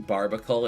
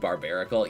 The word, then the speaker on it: Barbaracle: I love you saying barbacle instead of barbarical. Yeah, I do pronounce it completely wrong. I I realized after making the video on it that I was pronouncing it incorrectly and I still like